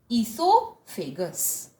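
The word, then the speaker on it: esophagus: fight is known as Esau fakers it is pronounced as Esau fingers is that clear now what is ezel fakers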